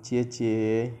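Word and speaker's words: 姐姐: kakak perempuan yang dituliskan Jie jie dan dibaca tjetje tulisannya cie dibacakan Caca Caca cara baca seperti kalian lagi goda godain orang gitu bilang Ciecie Nah jadi pembacanya Ciecie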